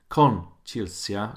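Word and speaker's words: кончился: Con chilsia, so the con is where the stress is.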